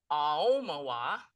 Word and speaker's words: Aomawa: It's pronounced a moa. Emphasis is on the O.